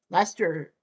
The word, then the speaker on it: Leicester: Leicester, pronounced Leicester City.